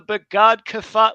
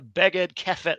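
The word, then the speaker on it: בגדכפת: And we call these the Begad Kefat letters or the Beged Kefet letters if you're in Israel or taking Hebrew in Israel.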